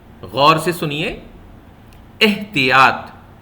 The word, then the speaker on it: احتیاط: کا دوسرا لفظ ہے احتیاط۔ غور سے سنیے، احتیاط۔ دیکھیے الف کے نیچے بھی زیر ہے اور تے کے نیچے،